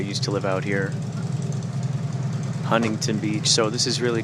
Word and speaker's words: Huntington: this is really cool even though it's spelled Huntington uh folks like to call it h Huntington they just they just Bowl right over the uh the teas and it's a it's